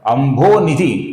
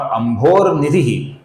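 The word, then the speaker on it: अम्भोनिधि: इधर अंभो निधि ऐसा अलग-अलग उच्चारण मत कीजिए। और अंभोर निधि ऐसा गलत उच्चारण भी मत कीजिए।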